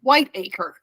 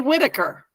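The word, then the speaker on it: Whitacre: is Michael Whitaker but it's spelled Whi t a c r e white acre but they say Whitaker huh isn't that isn't it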